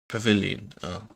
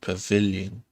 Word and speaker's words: pavilion: changing and taking refreshments okay pavilion stress on the second pavilion the tests okay let's